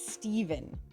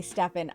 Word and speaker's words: Stephen: I know the general popular opinion on how to say it is Steven, but when I see a ph, I automatically say say Stefan. I have always pronounced it Stefan King. Like if I see it written that way, I will pronounce it Stefan.